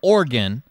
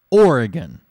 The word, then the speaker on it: Oregon: Well, there's another syllable there. You're not from Oregon. Organ would be a part of the human anatomy, the organs. You're probably from Oregon.